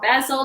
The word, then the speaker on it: basil: so I add some dried basil or Bassel depending on how you pronounce it and also some more